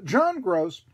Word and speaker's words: Groce: it's G ROC but pronounced like Greg gross okay but I know John gross you know Matt coach